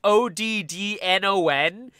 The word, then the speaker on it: Adnan: So like, by the way, for anyone unfamiliar, Adnan is spelled basically like short of it being Oddnon is so simple.